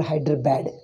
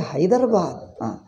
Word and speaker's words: Hyderabad: they call buddhism then for hyderabad they call hyderabad because d is there but it is a hyderabad muhammadan muhammadan where is that this is again english influence d you are pronouncing as d it is a da not d so we pronounce all